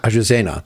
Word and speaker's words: Azucena: How do you pronounce it? Maya Azucena. Azucena.